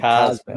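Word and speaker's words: CosMc's: How do you say it? Cos MCs or the McDonald's Cosmics, isn't it? Cosmics.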